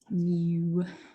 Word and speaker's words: mu: So this is pronounced mu. It's fun to say.